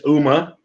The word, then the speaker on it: Ooma: And yeah, you are pronouncing it correctly. It is Ooma.